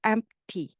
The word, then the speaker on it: empty: am 이게 p 발음이 굉장히 짧게 납니다. amp 입을 다물고 amp t 이렇게 되는 거예요. 그죠? amp가 있긴 한데 되게 짧아요. empty 괜찮나요? t 발음이 있긴 있습니다. 근데 되게 짧아서 그냥 지나가는 것처럼 들려요.